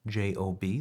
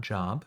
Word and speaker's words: Job: This includes the book of Job, J-O-B, the first on the list. So it's not Job, it's pronounced Job.